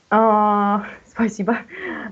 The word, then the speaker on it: спасибо: As you can see, it's right спасибо, but you pronounce a, because under stress, they give for us спасибо. Under stress, O is O. Without stress is A. So 90% Russian O is A.